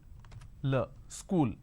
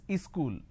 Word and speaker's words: school: they add another syllable they pronounce this as ischool wherever there is a word that starts with the sir sound they add an e in front so instead of saying school they say is cool something like this happens